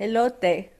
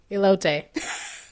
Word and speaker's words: elote: Elote. Elote. Close. Elote. Yeah, sound just like Elote. Elote. You Elote. sound like you're saying, hello, Tay. Elote. Hello, Tay. Nice to meet you. Elote.